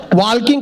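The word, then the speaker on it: walking: garden में वॉकिंग करेंगे वॉकिंग करते करते टॉकिंग करेंगे मैंने कहा वॉकिंग नहीं वॉकिंग होता है टॉकिंग नहीं टॉकिंग होता है इसमें एल साइलेंट आता है फिर मैंने अपना ज्ञान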